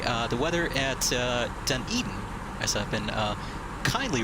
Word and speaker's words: Dunedin: brief ready okay uh the weather at uh dunedin as i've been uh kindly reminded is the correct pronunciation of the place we're going to uh